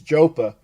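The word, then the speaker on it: JoePa: and I think that Jopa, and that's the correct way to say his name. It's Joe Paterno, but if you're from up in Pennsylvania, it's Jopa.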